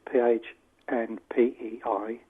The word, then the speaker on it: Pohnpei: Because there's a pilot study being conducted in an island called Pohnpei, which is Phnpei, and it was conducted by Tateki Yeating. Forgive me, Tateki, if I've pronounced your name wrong.